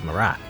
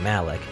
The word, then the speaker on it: Marak: script is translated, but his name here is Marak instead of Malik. Which kind of makes sense, because in Japanese, you know, Malik and Marak are basically pronounced the same in Japanese, so R and L are the same pronunciation.